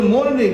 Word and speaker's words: morning: আমরা বলবো কি গুড মর্নিং কিন্তু আরের পূর্বে একটি ভাওয়েল আছে এই জন্য আরটি অনেক সময় সাইলেন্ট হয়ে যায় এখানে আরটি সাইলেন্ট হয়ে যাবে বলো গুড মর্নিং কে বলবো আমরা গুড